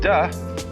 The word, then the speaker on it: De: The next word is De, because again there's no apostrophe after the T, so it's pronounced De.